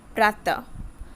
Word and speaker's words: प्रातः: इसका उच्चारण आधे ह की तरह होता है, जैसे प्रातः, अंत, च आदि।